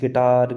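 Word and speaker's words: guitar: जैसे ये लिखा गाइस, गिटार, गिल्ड, ये गार्ड लिखा हमने, इन सभी में आपको दिख रहा होगा यू के बाद में एक वोवेल्स आ रहा है, इसलिए हम इसे वोवेल्स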